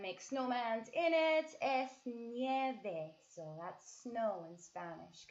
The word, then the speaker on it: nieve: Hombre de nieve. De nieve. See how it's N-I-E-V-E? And we pronounce each vowel. We say nieve, nieve.